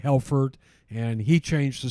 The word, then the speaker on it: Helfert: to the United States in the 1890s their pronunciation was not good in the immigration officer thought that they said helfert and he changed the spelling of our name